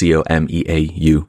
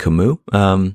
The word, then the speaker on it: Comeau: The other correction she offered was for the creator Michael Como, pronounced Comeau, which we pronounced, I think, Camus.